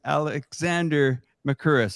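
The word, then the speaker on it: Alexander Mercouris: That's Alex Christoforou, and that's Alexander Makuris. Is that correct? Am I pronouncing that correct?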